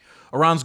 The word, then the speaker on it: Iran: enrichment of uranium in Iran or Iran. I' I've been told I say it wrong. I think it's Iran. And of course, these people have been shut out and all these things.